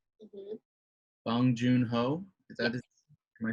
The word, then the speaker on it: Bong Joon-ho: Bong Joon-ho. Is that am I saying it? I said it. Yep. Bong Joon-ho is the director, the writer, the producer.